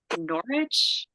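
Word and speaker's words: Norwich: a number of other novels she lives in norch I think is how you say it yeah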